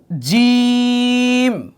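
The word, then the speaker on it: جيم: আলিফ আলিফ বা বা তা সাটা পাতলা হবে সা জিম জিম শক্ত জিম আমার সাথে বলুন একটু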